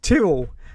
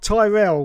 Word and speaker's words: Tyrrell: be that guy, but it's pronounced Tyrrell, as in squirrel. Yeah, just say squirrel and then say it with a T. Squirrel, Tyrrell. That's it is. Yes, not Tyrell, which was that shady corporation in Blade Runner, wasn't it?